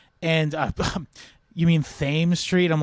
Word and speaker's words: Thames: And also she like laughed when I said Thames Street, because I assumed it was Thames, because that's how it's pronounced in England. And you mean Thames Street?